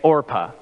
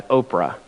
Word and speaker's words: Orpah: are Naomi Ruth and orpah I was terrified I was going to mispronounce that as Oprah I did that a couple of times anyway Ruth and orpa